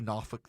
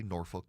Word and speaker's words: Norfolk: Portsmouth, Chesapeake, NOFK, uh they say Noffukolk there. They don't say Norfolk.